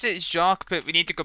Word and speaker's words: Jacques: I think it's pronounced Jaw. I'm not entirely sure. Wait a minute. Yeah, no, it's Jacques, but we need to go back to Lofty Castle.